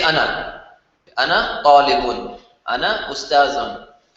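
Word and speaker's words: أنا: Notice the word ana is spelled with the alif. See that? But when you pronounce it as if it did not have an alif. So you do not say ana. It's written like that, right? But you pronounce it as if there was no alif there.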